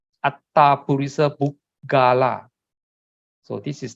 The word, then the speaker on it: attha: Purisa Yugani, Atta, the A-T-T-H-A, A-T and At, and then T-H-A is Ta. Atta Purisa Pukkala.